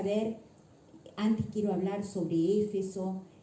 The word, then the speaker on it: Éfeso: Éfeso, a veces hay quienes lo dicen mal, dice Efeso, pero no, es Éfeso, lleva tilde en la E, Éfeso.